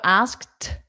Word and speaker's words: asked: So, to connect she asked So, asked t It ends in a T. Just like we learned with linked, talked, kissed. They end in T. The ED is pronounced as T.